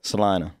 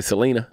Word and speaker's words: Salina: Kansas Kansas we're going to Sunline a Kansas Salina that's how you say it right Salina Salina I've been corrected a few times yeah people you say Selena Selena so it looks well in some places